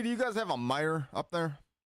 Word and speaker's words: Meijer: It's not Myers. It's not spelled like that. Promise you. But yeah, I know what you're saying. It's M-E-I-J-E-R. It doesn't look right, but yeah, that's literally how it's spelled.